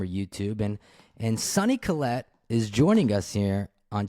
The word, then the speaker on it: Kollet: him on Instagram or YouTube and and sunny Colette is joining us here on chasing birdies my